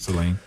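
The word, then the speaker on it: Saline: Seline.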